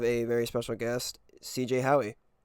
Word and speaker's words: Howey: What did you say? You said Howie. Yeah, you got it.